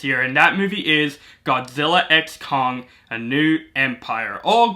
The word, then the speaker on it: Godzilla x Kong: and that movie is Godzilla x Kong: A New Empire, or Godzilla Kong: A New Empire, saying that the X is silent, however you want to call it.